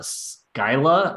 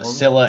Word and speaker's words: Scylla: Lovecraftian theme, including Charon and the sea monsters Scylla and Charybdis. Pronunciation Scylla and Charybdis.